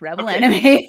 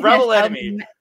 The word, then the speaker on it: Rebel X Enemy: I'm going with Rebel X Enemy because that's how it looks on paper. That's how it's spelled on paper. I'm going how it's announced by the announcer, and that's Rebel Enemy.